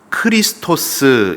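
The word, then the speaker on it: Χριστός: 번역을 하면서 표현한 단어입니다 구약에서는 히브리어로 매쉬 약 이렇게 발음을 하고 신약의 헬라어로 와서는 크리스토스 이렇게 어 말을 합니다 그리고 영어로는 크라이스트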